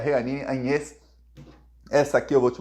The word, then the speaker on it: Jeanine Áñez: Pois bem, ele fala o nome dela, pronuncia da maneira como os americanos ensinaram, Jeanine Áñez. O nome dela é Jeanine Áñez.